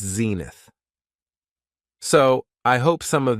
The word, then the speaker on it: zenith: It has 2 syllables, and the stress is on the first syllable, zenith.